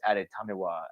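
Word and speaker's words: Adetomiwa: Yeah, his name is fun to pronounce once you get it, because it's Adetamiwa Adebawore.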